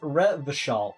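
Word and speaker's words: Revachol: all around where was I ret all is pronounced reval reval orang is pronounced or classier class or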